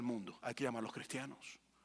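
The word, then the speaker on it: χριστιανός: el griego sería como Entonces si lo fueras a pronunciar sería como cristianos Sería más o menos como ser cristianos y Qué significa cristiano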